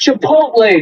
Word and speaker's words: Chipotle: It's pronounced Chipotle, Mom. Chipotle, not Chipotle.